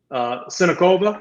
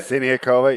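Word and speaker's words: Siniaková: The upset was Sinikova. Is that how you say it? Siniakova, yeah.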